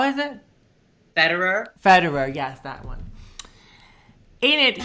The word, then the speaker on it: Federer: Jamie, how do you pronounce? How is it? Federer, yes, that one.